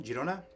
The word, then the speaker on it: Girona: La Liga side um uh Girona uh Girona Girona that's how you pronounce it you don't know yeah